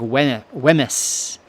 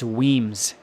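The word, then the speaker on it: Wemyss: a note right here weams is spelled weem yss so it looks like we whis but it's weams and the weams are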